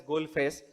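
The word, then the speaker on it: Galle Face: Then someone said, no sir, it is pronounced as Goal Face. All those are spellings are Gale Face.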